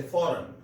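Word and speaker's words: foreign: पहले भी मैं इस पिछले लेक्चर में बता चुका हूं कि वो वर्ड जिनमें EIGN इकट्ठा आए उनमें जी साइलेंट होता है, जैसे फॉरेन।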